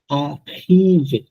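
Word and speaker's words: arrivé: আরাইভে, আখিভে। আখিভে। আখিভে। আর উচ্চারণ সবসময় হ উচ্চারণ হবে, তাই তো? খ না, এটা আসলে এটা খ, এরকম খ, একটা গলার মধ্যে ধাক্কা দিয়ে খ।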